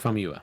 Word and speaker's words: Famuyiwa: Famuyiwa? Yes, I'm gonna just. Rick Famuyiwa.